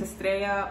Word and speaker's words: Estrella: If you're new here, my name's Estrella, or you can call me if you don't know how to pronounce that same name, different language.